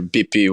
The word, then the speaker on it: Bippi: down to Pepe but down south in Calabria a lot of people pronounce the letter P with B so when we say instead of saying pasta we say Buster um so bippy was was come from